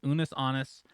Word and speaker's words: Unus Annus: It looks like anus with two N's, but it's Unus Annus.